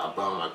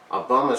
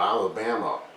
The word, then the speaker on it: Obama: People were always getting his last name wrong. He said, garbling it as Loma or Alabama, or they bought it was Alice, Alabama.